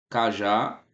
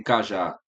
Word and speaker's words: cajá: Olha o cajá, perceba que o já é a sílaba forte.